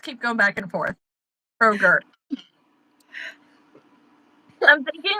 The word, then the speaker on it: Kroger: Kroger.